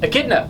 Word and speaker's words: echidna: But we're going to talk about this, now am I saying it right? Echidna? Echidna. Mm-hmm. Yeah, you got it.